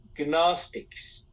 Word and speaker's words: Gnostics: group called gistic gas gnostics pronounce it gnostics okay c n o s t i c e Gnostic and their view is that